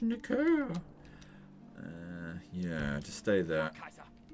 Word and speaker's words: Nicaea: It's pronounced Nicaea.